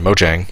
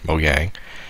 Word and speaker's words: Mojang: written in Java and Mojang moyang both pronunciations since that's been a